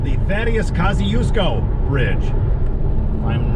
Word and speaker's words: Thaddeus Kosciuszko: And to pronounce it, it's called the Thaddeus Kosciuszko Bridge.